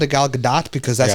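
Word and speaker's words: Gal Gadot: her always say it gdat okay but people pronounce it both ways yeah so I've always called it gal gdat because that's how she said it in her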